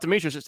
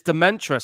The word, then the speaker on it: Dementus: shot oh damn oh it's not de it's not Demetrius it's dementus sorry I got the name wrong earlier it's dementus it's kind of like a play on the whole demented stuff oh